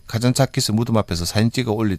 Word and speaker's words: 카잔차키스: 왜 왔냐고 하는데 영어들을 못 하시니까 니코스 카잔차키스 홈 뭐 그런 얘기를 하면 여기 발음이 달라요. 카잔차키 그래요. 숫자를 안 붙이더라고요.